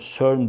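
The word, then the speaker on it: CERN: ve teknolojik araçlarda donatmak surn yani Can diye okunuyor surn diye okunuyor yüksek enerji ve plazma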